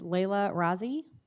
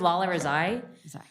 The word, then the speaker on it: Lola Rezai: followed by Denise Salerno don't worry it's pretty uncommon to pronounce it correctly so my name is Lola rezai thank you I'm the